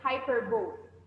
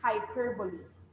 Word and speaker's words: hyperbole: is the word now some of you will read this as hyperbole but when you um look at it's in ipa it's hyperbole hyperbole how about this one